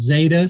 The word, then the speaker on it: Zeta: It's pronounced Zeta. So Zeta.